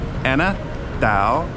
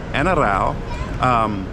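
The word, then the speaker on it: ano raw: That's spelled A-N-O-R-A-W, but it's pronounced ana daw, ana rao.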